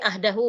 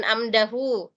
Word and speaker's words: ahdahu: Ya, seperti tadi ini ahdahu mungkin salah lihat ya. Dikira mungkin tadi mim ini. Padahal ini ahdahu. Jadi bukan amdahu.